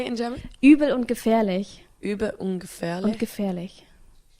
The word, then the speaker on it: Übel und Gefährlich: Übel und Gefährlich.